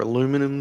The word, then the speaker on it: aluminum: I think they're still using aluminium or aluminum, that the Americans say, in the other ranges, but stand to be corrected.